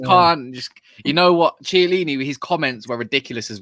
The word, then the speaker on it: Chiellini: Yeah, is that how you pronounce it? Chiellini. Yeah, CH is Kia.